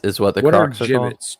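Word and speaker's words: Jibbitz: They're called gibbets. Gibbets. So I put an L in there. Giblets.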